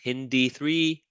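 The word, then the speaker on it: HindIII: look for the italics So HIN is italics. So you say that hin, and then these are not italics. Then you say D3.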